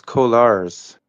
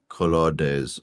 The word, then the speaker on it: colores: Not the best, but los colors. Los colors. Yeah, the colors. Yeah. It's That's colores. como me gusta. It's 3 syllables. It's colores.